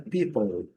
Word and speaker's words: people: Essa é bem conhecida, people, letra E também pronunciada, duas sílabas, bem clássicas, aqui uma sílaba mais longa, aqui uma sílaba curta.